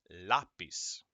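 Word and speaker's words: lápiz: use an accent mark if you see an accent mark that letter that syllable becomes louder it gets all of the stress all the emphasis okay so repeat after me lapis instantaneo ultimo okay no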